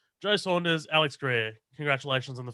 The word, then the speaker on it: Saunders: surname is saunders uh just that's how you pronounce saunders yeah cool all right great joe saunders no